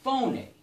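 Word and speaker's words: φωνή: But in the Greek, the word for sound is phoné, you know, just like spelled like a phone, right?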